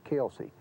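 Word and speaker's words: Kilsyth: H, which would be Kily or something like that, is is Kelsey.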